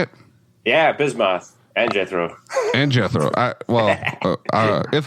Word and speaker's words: Bismoth: Yeah, Bismoth and Jethro.